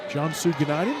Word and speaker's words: Cansu Günaydın: in UTA as United, which did some research on that name and how to pronounce it today. United in Turkish, where she is from. Cansu Günaydın.